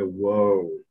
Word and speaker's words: woe: the second uh sentence it's woe to the inhabiters they say whoa it's one of those